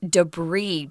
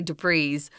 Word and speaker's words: debris: would be debris and notice it's kind of a weird pronunciation because it's French and they just sometimes don't like to say that final s so that's why we're saying debris please do not say du Preez no and its non-count both